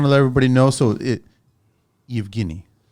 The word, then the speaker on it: Evghenii: So Evghenii. Evghenii. Yes. Evghenii. How do you pronounce the last name?